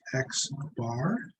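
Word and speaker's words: x̄: off the average okay this guy is pronounced x bar and here's the sample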